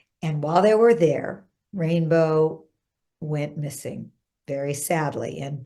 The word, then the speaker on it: Rayne Beau: And yes, his name is pronounced Rayne Beau.